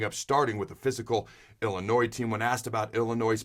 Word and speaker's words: Illinois: comes to the numbers, they're Illinois, where the S is silent, they're top 5 in all passing categories.